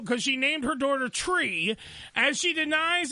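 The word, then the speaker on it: Chree: CH cheese but CH and then re so tree okay they don't even give these kid a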